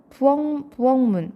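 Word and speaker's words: 부엌문: 부엉문 발음하면 부억문이지만 발음하면 부엉문이 되죠. 자, 먼저 그간 키역이 이응으로 바뀌죠.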